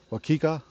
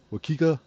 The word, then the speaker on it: Waukeka: Oh, excuse me, Waukeka. Waukeka. It's a weird name, I know. Uh, but it's spelled Waukeka.